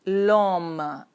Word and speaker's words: homme: So we put L apostrophe and the pronunciation will be l'homme. H is silent.